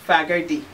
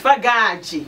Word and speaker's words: Fagade: I've lived in so many countries, so we pronounce the surname differently. There's Fagade, if I was in back in Scotland. It's Fagage when I lived in Brazil. And here, some say Fagade.